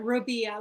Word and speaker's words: Robia: name correctly Robia correct you are Robia like Maria Robia perfect I was concerned